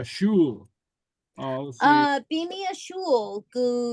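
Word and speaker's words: sgoil: Bimi a shul, Gu How do Tennessee. you say that? Shul. Yeah, sort of like shul. Yeah. Shul pronunciation would be shul.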